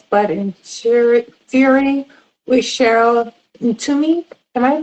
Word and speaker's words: Ntumy: If you are just joining us, we are discussing They Made Us Blood and Fury with Cheryl Ntumy. Am I pronouncing that right?